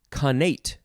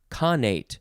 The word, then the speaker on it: connate: different um next word connate or carnate emphasis on either syllable c-o-n adjective from 1641